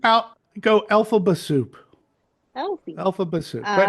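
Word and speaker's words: Elphaba: Just think Elfie. out, go Alphaba soup.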